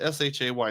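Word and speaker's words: Schoech: It's not spelled S-H-A-Y. It's spelled S-H-O-E-C-H, but it's pronounced Shay.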